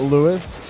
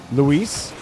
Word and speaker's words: Lise: didn't get that touch it's not Louis it's Lise dude I pronounced this guys